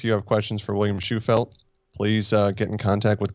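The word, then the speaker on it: Shewfelt: Yeah, Schufelt. I got to write that down phonetically, or I'll keep forgetting.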